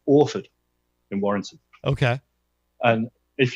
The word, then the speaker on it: Orford: And our guitarist is from a place called Orford in Warrington. Okay. And if you say Orford in a Warrington accent, you say Orford.